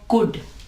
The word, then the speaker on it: could: यहाँ पे कुड के अंदर एल भी आया हुआ है, लेकिन यहाँ पे एल जो है वो साइलेंट होगा और ये जो प्रोनाउंस करेगा वो इसकी आवाज निकालेगा। ठीक है, कुड।